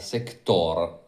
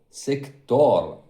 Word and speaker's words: Sector: I took this one from Sector, which by the way isn't sector, it's not the accent on the e sector, but it's the accent e on the o sector, and it says, "How do you know that?"